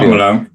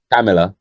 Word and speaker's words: Kamala: What I can't pronounce her name still. Kamala, Kamala.